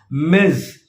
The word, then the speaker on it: Ms: address a female colleague in an email as miz and follow the pronunciation it's ms zed sound so repeat once